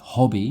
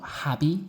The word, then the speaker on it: hobby: Hobby, not happy or happy. Hobby. Like hot, like a hot tea, hot coffee.